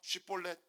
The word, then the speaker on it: 쉽볼렛: 자, 해봐. 쉽볼렛. 그러면 에브라임 사람이면 뭐라고 발음할 수밖에 없는 거예요? 예, 십볼렛이라고 발음하는 거죠.